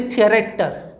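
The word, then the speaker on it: character: तो जैसे CH word की हम बात करें, लेटर CH, तो जैसे कैरेक्टर, कैरेक्टर में CH का प्रोनाउंसिएशन क्या है आपका? क्रा से आ रहा है।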